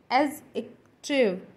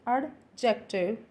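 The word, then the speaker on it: adjective: हैं कि एडजेक्टिव है, पर इसमें जो हमारा डी है वो साइलेंट होता है। इसे हम बोलते हैं एज एक्टिव, एज एक्टिव, एज एक्टिव। सो इट इज़ नॉट एडजेक्टिव, इट्स एजेक्टिव, एजेक्टिव।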